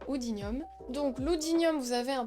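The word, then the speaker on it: Oodinium: a l'oudinium qui est alors odinium oudinium vous le prononcez comme vous voulez moi je dis oudinium donc l'oudinium vous avez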